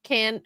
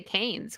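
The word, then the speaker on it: Cannes: It's like how uh people say like can can film festival. Can's film festival or canes? Yeah. Isn't it pronounced? Is it used to say I used to say canes cuz that's what it looked like.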